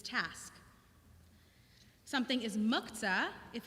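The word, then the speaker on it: מוקצה: Our rabbis created a category called muktzah, literally set aside. Muktzeh in a good modern Hebrew accent, but all my teachers say muktzah in Ashkenazi pronunciation, so I will too.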